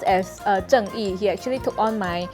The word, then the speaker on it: Zheng Yi: So it's pronounced as Zheng Yi.